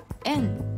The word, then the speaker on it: 遠: 音読みは円です。